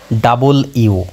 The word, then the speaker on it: W: সেটা হচ্ছে ডাবল ইউ আমরা এটা ডাব্লিউ বলি কিন্তু এর সঠিক উচ্চারণ হবে ডাবল ইউ অর্থাৎ উইন্ডো উইন্ডো মানে